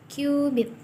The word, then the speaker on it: cubit: Nah, tulisannya sih cubit, tapi dibacanya bukan cubit, tapi qubit.